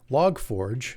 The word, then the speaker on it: Log4j: get a little technical log forge sometimes pronounced literally as it's spelled log numeral 4j log4j is a component of